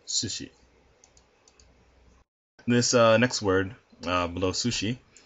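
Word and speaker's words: すし: The first one is sushi. The first character is pronounced su. Second character is pronounced shi. Therefore, sushi.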